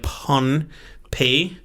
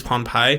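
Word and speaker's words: Pohnpei: vesuvius and there's p-o-h-n-p-e-i so like pun pay i may be pronounced or maybe it's pawn pie but i think it's pompeii okay which is part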